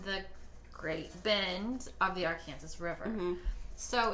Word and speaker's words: Arkansas: and I should say it properly, it's Arkansas, I'm from Wichita, it's Arkansas River.